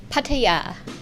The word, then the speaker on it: Pattaya: asking about the pronunciation nettie how do you pronounce pattaya correctly pattaya pattaya yeah i like the way you said